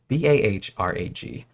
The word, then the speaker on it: Bahrag: um, so basically, the Bow Rock Queens, Gadak and Gadak, also known as the Barag. I don't know how to pronounce it exactly. It's a weird word. Barag? Barag? Barag? It's Bahrag.